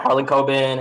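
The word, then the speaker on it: Harlan Coben: uh blurbs from uh help me with the pronunciation is it harlan kobe yeah harlan cobin and scott taro yeah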